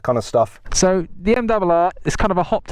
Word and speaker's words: M1000RR: Okay, so that's how you say it, M1000RR.